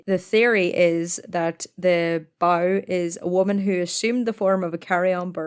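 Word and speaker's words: badhbh: parts of Ireland the Banshee is called a bow so it's spelled you're gonna love this heavily it's spelled b-a-d-h-b-h it's pronounced by what you just said um so a bow is a type of carry-on bird uh carry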